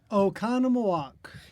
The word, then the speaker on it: Oconomowoc: Can you just pronounce the name of your town, please, Nathan? Oconomowoc.